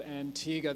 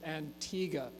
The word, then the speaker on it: Antigua: pronounce it that way they pronounce it with a hard G so Antigua so just as it's